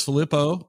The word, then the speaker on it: Filippo: My name is Filippo. You said it right.